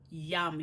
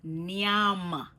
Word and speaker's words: nyam: The real pronunciation of this word is nyam. Me I gonna nyam some food right now. Me I go nyam, nyam with a N, N, nyam. You can't forget the N. You can't leave out the N.